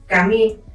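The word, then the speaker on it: 髪: research and discovered that in Japanese Hair and paper are pronounced the same way 'Kami' Kamí is hair and Kámi is paper (I put accents so that you understand where the stressed syllable goes) They basically sound the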